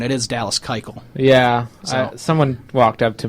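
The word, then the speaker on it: Keuchel: Dallas kyel and I did find the correct pronunciation it is Dallas kyel yeah someone walked up to me and was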